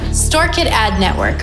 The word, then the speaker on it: SKAdNetwork: It would probably be good to first understand exactly what SKAdNetwork is, and maybe how to pronounce it. StoreKit Ad Network, or SKAdNetwork, is a privacy-centric API that is operated completely by Apple.